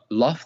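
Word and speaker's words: لفظ: It has kalam nafsi and it has kalam lafz. Okay. So kalam nafsi means the words, like the uncreated words. Now, kalam nafsi is uncreated because it's not inside the physical world. But lafz, do you know what lafz means?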